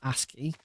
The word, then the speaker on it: ASCII: ASCII, that's how it's pronounced. ASCII.